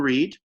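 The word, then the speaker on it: Reade: I'm under Reed. My last name is spelled R-E-A-D-E.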